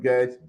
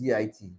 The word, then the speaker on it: git: l i okay um some people call it get jet whatever but it's git I don't care about